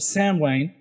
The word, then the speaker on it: Samhain: Halloween is the Christianized version of Samhain, or Samhain.